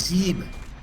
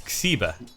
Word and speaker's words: Xiba: Xeeb. Xeeb? Not quite. Yeah. It's Xiba. Xiba.